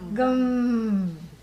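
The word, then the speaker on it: गं: sound is what M so don't say G Plus M how do you pronounce it gum gum yes anus and this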